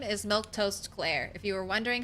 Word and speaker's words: Milquetoast: should say this for Raiders my name is milk toast CLA if you were wondering how to say